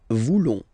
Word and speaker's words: voulons: Then for nous, classic ending, ONS, don't pronounce the S, just pronounce the on. Nous voulons.